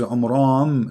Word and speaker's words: Amram: Secondly, he could not pronounce the name correctly of the father of Moses and Aaron, because his name is Amram. So the last letter is M, not N.